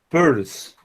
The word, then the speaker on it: Peirce: Y me voy a referir brevemente al autor Charles, o sea, Carlos Sanders Peirce. ¿Sí? La pronunciación de este apellido, el sonido de esta palabra es como el de monedero, de purse, purse.